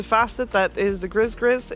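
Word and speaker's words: Gris-Gris: g nah it's the Grizzy if they wanted to say GRE gree then they shouldn't have put an S at the end holy holy boy well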